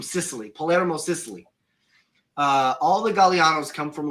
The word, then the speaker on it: Gagliano: about my name, because if you look at my name, it looks like it's spelled Gagliano, right? But I've been told it's Gagliano. So I went down and was able to ask, and they were like, yeah, no, Gagliano. It's pronounced Gagliano.